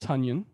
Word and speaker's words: Tonyan: It's pronounced Tunyon. Oh, Tonyan, that's right.